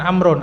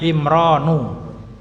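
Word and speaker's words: عمران: Kemudian setelahnya ini bukan amrun, ada alif dan nun, bacanya imronu ya.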